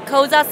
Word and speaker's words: Koza: And in in in English, we our brand name is Koza sleep because we rhymes with cozy sleep. Koza sleep. It sounds exactly like cozy.